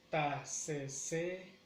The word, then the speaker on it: taseseya: El acento lo pronunciamos, la acentuación la lleva en la cuarta sílaba. Taseseya, taseseya, taseseya.